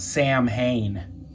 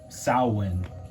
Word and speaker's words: Samhain: The only problem is this ain't pronounced Samhain. That's not how you say that. This is an ancient Gaelic word used by the Celts, and it's pronounced more like that, sow-win. There's no Sam in there.